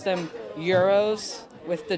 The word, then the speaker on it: gyros: yeah fun fact well Americans pronounce gyros as gyros with the G but you're actually supposed to pronounce them euros with the G silence